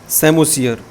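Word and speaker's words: psammosere: है वो बी होगा सेमो सियर यहां पर पी साइलेंट होता है बायो बायोलॉजी में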